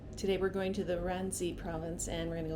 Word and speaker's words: Ghazni: Ghazni is spelled with a G, but it keeps getting pronounced with an R.